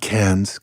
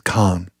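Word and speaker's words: Cannes: over near um nissan khan not cairns khan it's the proper pronunciation i was hanging out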